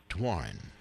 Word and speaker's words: Doiron: It's PAULDOIRON, pronounced Dwarren.